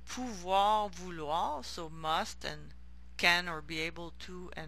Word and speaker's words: pouvoir: Some voir verbs, so notice that the OE is pronounced wa. So devoir, pouvoir, vouloir, so must and